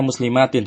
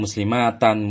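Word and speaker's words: مسلماتٍ: Tapi perhatikan di sini ya, Kenapa dibacanya muslimatin, tidak muslimatan, mukminatan, qanitatan, taibatan, dan seterusnya? Itu karena memang jamak muannats salim ketika mansub, tandanya adalah kasroh.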